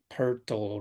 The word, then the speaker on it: Pertle: Pertle rhymes with Wardle.